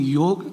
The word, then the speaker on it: yoga: mention to you that while in English we do write Y-O-G-A, but we pronounce correctly as yog, and therefore I continue to say yog in my speech.